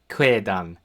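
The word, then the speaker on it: quedan: So, q in Old High German, chances are you're going to see it coupled with u, so it'll make a kwa sound. As in the example we have here, kwedan, to say.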